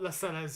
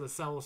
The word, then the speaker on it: Lascelles: Lascelles, yes, Lascelles, not Lascelles, you're right, Lascelles, that is how his name's actually pronounced, Lascelles, so I will say Lascelles.